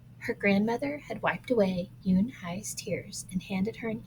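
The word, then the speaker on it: Unhei: you and hi said unai unay the girl asked scrunching up her face some kids chanted oh no you and hi corrected it's spelled u-n-h-e-i it's pronounced Yoon Hai oh it's you hey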